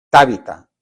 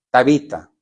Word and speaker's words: Tabita: Tábita, ¿cómo se dice? Tabita. Era chiquita.